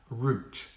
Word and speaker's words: route: a perfect example is the word r-o-u-t-e root it spells root in English and in German but